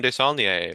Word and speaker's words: Desaulnier: Yes, today we're pleased to have with us Desaulnier. happy to have you here. How are you? I'm well, thanks. An excellent pronunciation of the name, by the way.